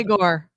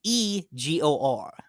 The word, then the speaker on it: Egor: Igor. No, it's actually E. It's Egor.